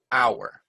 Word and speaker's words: hour: Because sometimes the H is silent and sometimes the U sounds like and sometimes the U sounds like you, right? So for example, a house, but an hour. A horse, but an honor.